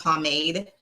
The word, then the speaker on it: pomade: And it's pronounced pomade because it's so funny when I hear you guys ask where you were like pomade, pomade. I don't know, pomade. Let me know in the comment how you pronounce.